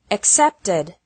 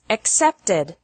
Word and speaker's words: accepted: The past of accept is accepted. Accept has two syllables, and accepted has three syllables.